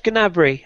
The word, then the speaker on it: Gnabry: Do we pronounce the G or is it silent? It is Gnabry technically, but it sounds silly.